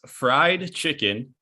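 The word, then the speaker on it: Freyed Chicken: So it is fried chicken, but it's spelled FREYED. And then chicken.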